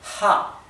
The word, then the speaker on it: Ja: alemán Así que esto se pronuncia ja como una J Pero recuerde que más suave como la H del inglés Ja no digan ja Por qué les digo que no pronuncien Ja porque en alemán También tenemos el sonido J que viene con la garganta que se escribe así la ch en alemán se pronuncia como la J nuestra y la H del alemán se pronuncia como una exhalación Ja bien la i es